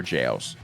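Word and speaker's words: gaol: to talk about ever jails um don't let the spelling fool you it's an old english spelling it'll be g-a-o-l it is still actually pronounced jail um it's an old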